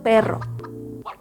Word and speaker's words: perro: Primero la P, juntas los labios, luego la es como un poquito cerrada, y luego la R, cómo mueves la lengua.